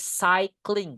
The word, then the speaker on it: cycling: Main sepeda is cycling, guys. Cycling. Bacanya kayak I gitu ya. Look at this one. Hold on. It's like I. Cycling.